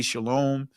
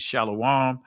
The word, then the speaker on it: shalom: peace, it's not uh some of you guys would say shalom. Uh the ancient word pronunciation is shalawam.